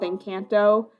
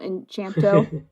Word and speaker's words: Encanto: Like, same thing with Encanto, which I'm pronouncing that right now, or not Enchanto, tomato.